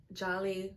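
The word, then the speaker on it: Djèlí: The D is silent. Okay. All right. This is Ring Shout by P. Jolly Clark.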